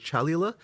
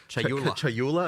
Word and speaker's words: Chayula: So the acolyte of, and I always get this name wrong. The acolyte of is it Chalula? Chayula. I always say this wrong. not say So Chayula.